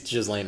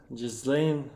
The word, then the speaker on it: Ghislaine: But yeah, Ghislaine Maxwell. Federal prosecutors resting their case in the sex trafficking trial of Ghislaine Maxwell. Is it? Oh, wait, is it Ghislaine and not Ghislaine? If the S is silent.